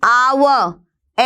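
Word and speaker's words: hour: यू की ध्वनि है एन आवर एच साइलेंट होता है अ की ध्वनि है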